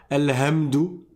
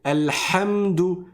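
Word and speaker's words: الحمد: hi commeunarun al hamdou c'est pas al hamdou c'est al hamdou c'est un ha c'est au milieu de la gorge et on on laisse frotter donc qu'on va resserrer et on va frotter.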